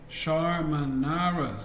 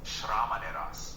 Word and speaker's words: Shramanera: You pronounced it a little off. It's Shramaneras. Shramaneras. That's a term for not. Shamanaras is a bit off in pronunciation. The correct term is Shramanera, which refers to a novice monk in Buddhism.